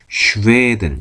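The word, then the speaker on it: Schweden: 스웨덴 스웨덴 이제 스웨덴 근데 하가부터 있어서 슈덴 슈덴 한다는 거 슈웨 스웨덴 스웨덴 있니다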